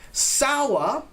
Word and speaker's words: sour: Sour, right? Kind of like hour, right? Sour. Many people say sa. Be careful with the pronunciation of this one. We say sour.